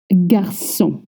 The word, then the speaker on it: garçon: Now let's go to number 3, and we're going to talk about garçon. Yes, please don't say garçon ou garcon ou garcon. The C comes with a cédille.